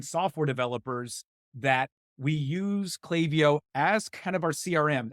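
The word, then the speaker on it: Klaviyo: so they are the I don't know if it's called clay I've never heard clay before I've heard clavio and other things but it's definitely pronounced clavio their VP of customer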